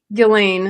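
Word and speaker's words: Ghislaine: Gilain is how you say it.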